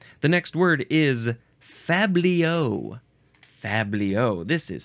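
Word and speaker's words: fabliau: noun from from 1804 the plural uh I shall tell you is faos with a z sound because it is spelled uh you add an X at the end Fabio with an X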